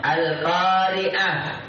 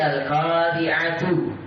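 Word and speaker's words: القارعة: Mita marbuta di akhir kalimat al-qari'ah. Antum tak baca al-qari'atu kecuali kalau antum baca sabuk baca. Dia tertulis al-qari'atu, tu tertulis tapi dibaca ha. Al-qari'ah, mal-qari'ah. Tertulisnya tu, terbacanya ha.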